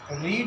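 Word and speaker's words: read: आपको बताना पड़ेगा कि वर्ब की ये सेकंड फॉर्म हम मान रहे हैं, क्योंकि रीड एक ऐसा वर्ब है जिसका तीनों फॉर्म की स्पेलिंग सेम होती है, लेकिन प्रोनाउंसिएशन अलग अलग होता है।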